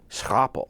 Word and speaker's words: scrapple: livermush is is there scrapple okay uh scrapple scrapple that's the way you pronounce that word uh is a dialect word